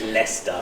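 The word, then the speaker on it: Leicester: they make dark Coke cans from Lester so pronounce the correct way that is leester which is in the Midlands just in not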